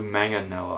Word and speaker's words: Manganiello: Joe Manganiello, I think is how you say it.